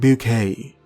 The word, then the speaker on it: Bucket: is keeping up appearances their surname is bucket spelt bucket but she pronounces it bouquet you know to keep